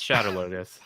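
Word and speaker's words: Shadar Logoth: It's Shadow Logoth.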